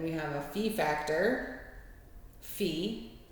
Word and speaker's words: phi: have a fee Factor fee is how that's pronounced not Phi um it may be pronounced in the Greek alphabet as Phi but it is fee in lrfd and this is your